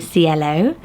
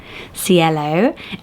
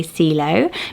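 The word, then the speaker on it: Cielo: is lovely back to Spanish and it's named cello cello oh isn't it lovely I'm so tempted to say CEO but you when I looked at the pronunciation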